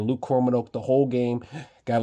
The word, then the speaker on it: Luke Kromenhoek: That's how you say his name, Luke Kromenhoek, the whole game.